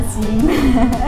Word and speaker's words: SYM: 广告也是跟你一样，但是我们念就为了 SIM。念什么？SIM。